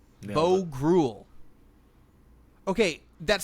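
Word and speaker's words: Groulx: The X is silent. Grul Bo Grul.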